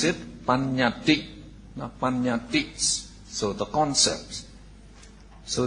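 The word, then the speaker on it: paññatti: So in Pali, so if you want to note, so we would pronounce it panyati.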